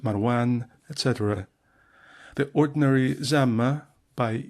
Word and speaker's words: Marwan: as Seljuk, pronounced Saljuk, Marwan, pronounced Marwan, etc.